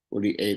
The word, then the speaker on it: poli A: Membacanya pol E ya. Poli E itu bukan E ya, A ya.